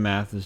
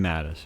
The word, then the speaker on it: Mattis: Ruben Garcia, didn't Jim Mathis just say that himself last year's Syrian gas attacks were false? General Mattis? Oh, I read that wrong. Jim Mattis, yeah. That's how you say his name.